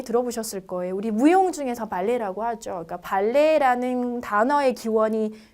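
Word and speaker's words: ballet: 우리 무용 중에서 발레라고 하죠. 그러니까 발레라는 단어의 기원이 프랑스에서 왔기 때문에 우리가 발레라고 발음을 하는데요. 끝자음 발음은 없습니다.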